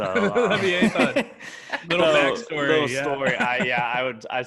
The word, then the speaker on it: Leviathan: I actually have it at number 3 as well, but you guys are saying it wrong. It's Leviathan. So Leviathan.